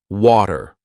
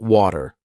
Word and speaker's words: water: for several years now I started saying water not water water almost like a d/r even so what's the